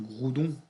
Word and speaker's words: Groudon: Alors, je n'ai rien contre mes amis québécois, mais Groudon, Groudon, Groudon, et que nous on le prononce Groudon.